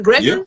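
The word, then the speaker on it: egregore: Is that the word egregor? Am I saying it right? Yeah. Egregor.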